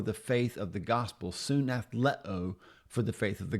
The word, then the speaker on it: συναθλέω: It's a Greek word and it's pronounced soon athlet.